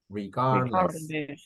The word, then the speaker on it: regardless: pronounce the word correctly do not pronounce the d regardless regardless so just yes